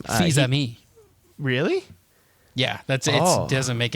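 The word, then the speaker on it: Fils-Aimé: Fils-Aime.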